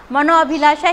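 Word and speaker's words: मनोऽभिलाषा: जैसे कि अपन नॉलेज पढ़ते हैं तो नॉलेज में के साइलेंस रहता है इसी तरह इसमें भी ये साइलेंस ही रहेगा आपके इसके उच्चारण होगा मनोअभिलाषा ही होगा आपका मनो अनुकूल ही होगा यशो अभिलाषा होगा।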